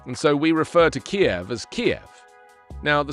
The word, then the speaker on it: Kiev: Kiev digs in as NATO bolsters forces.